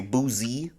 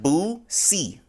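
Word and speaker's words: Boosie: booy name wrong uh everybody say booie I don't know if you ever heard somebody said that before but is it how how do you say it like Boo see like you see something oh booy booy but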